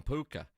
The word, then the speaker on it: Puka: over there I'm like how do you say uh this kid's name and he was like oh we we call him puka like all right what